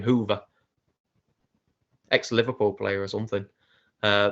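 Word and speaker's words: Hoever: three is for them i think it's hover apparently that's how he's pronounced his name hoover ex-liverpool player or something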